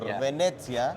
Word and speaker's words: Venezia: So can can you talk to us about where I I mean of course the inspiration comes from Venice or Venetsia which is how you pronounce it.